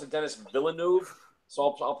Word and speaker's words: Villeneuve: directors damn I some people pronounce it denis villeneuve saul pronouncing Villeneuve his direction of this film was